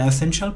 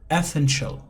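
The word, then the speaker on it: essential: অ্যান্ড ইট has become an এসেনশিয়াল part of my life, এবং এটি আমার এই জীবনের একটি অপরিহার্য অংশ হয়ে গেছে। তো মনে রাখতে হবে, প্রোনাউন্সিয়েশন নোট হলো এটা এসেনশিয়াল না, আপনি বলবেন অ্যাসেনশিয়াল।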